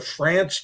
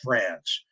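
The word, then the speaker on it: Frantz: yes there was one post prohibition distillery the france distillery in somerset county that's spelled f-r-a-n-t-z it started it started as the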